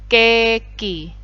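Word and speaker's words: ケーキ: Nah, dituliskan dengan huruf katakana jadinya keki. Keki itu vokal double E-nya cukup ditambahkan tanda strip setelah huruf K gitu ya, keki. Kemudian mark jadinya maku.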